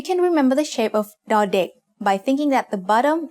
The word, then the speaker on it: ด: As the initial consonant of a syllable, ดอเด็ก makes the sound d just like the letter D in diamond.